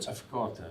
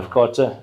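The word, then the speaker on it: AfCFTA: Afkata. Yeah. Afkata. I've been trying to figure out how to pronounce it.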